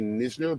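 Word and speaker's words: Knizner: up he's new listener i would guess if it was me i'd say nisner but i could be wrong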